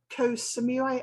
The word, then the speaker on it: Koh Samui: currently based in thailand on the island of koh samui have i pronounced that correctly yes and you've been there